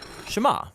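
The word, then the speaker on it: שמע: is hear or listen which in hebrew is pronounced shema that's where the prayer gets its name now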